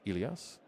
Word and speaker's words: Ilias: Just a pronunciation update. It is Ilias.